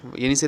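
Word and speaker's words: Yenisei: से ये स्पेलिंग है वाई ई एन आई एस ई वाई ठीक है याद रखना यायनी से रिवर है फिर यह रिवर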